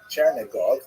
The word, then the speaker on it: Chernihiv: And there's another, Isaac of Chernihiv, sometimes recorded as Isaac of or Yitzchak of Chernigov. That would be the Russian pronunciation of the same place.